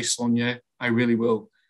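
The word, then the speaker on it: Sláine: will try and say sonia i really will how do you pronounce it um well i i you know i started off calling it slain uh because i didn't really think about the accent and it was only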